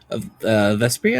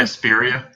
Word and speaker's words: Vesperia: Vespria? Vesperia.